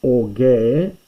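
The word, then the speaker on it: ὀργῇ: Or orge. Orge means anger, and this is orge. You don't pronounce it, but you must write it when just note it's there.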